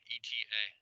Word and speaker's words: eta: Okay, it's Greek variable eta, ETA. Pronounced eta. I don't know what else to say there. Here's the general equation for eta.